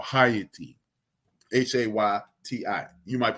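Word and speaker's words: Hayti: go look up this app it is called hyatty h-a-y-t-i you might pronounce it Haiti but understand that it's the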